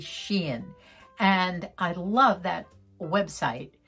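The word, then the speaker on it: SHEIN: wrong by the way dubby told me it was shine but it's really sheen and i love that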